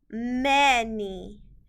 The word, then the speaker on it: many: The A in this word is making a short E sound. Many. And the Y is making an E sound because this is a 2-syllable word. Many.